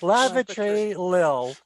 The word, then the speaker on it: Lavatory Lil: Lavatory. Lavatory Lil. Yeah. 3 syllables.